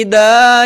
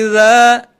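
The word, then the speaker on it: إذا: Huruf za tadi masih terdengar ida ya. Walaili ida yaghshaha. Seharusnya walaili idza za gitu ya.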